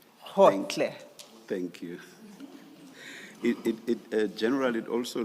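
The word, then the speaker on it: Gotlhe: Advocate Powe, It's Khotle. Khotle. thank you. And maybe, Ms. Hassim, it may have to be spelled for the transcript. Thank you. And that's spelled G-O-T-L-H-E. Hotle.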